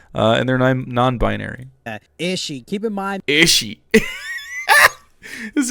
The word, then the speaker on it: Erika Ishii: Erika Ishii is how you pronounce it, and they're non-binary. Ishii.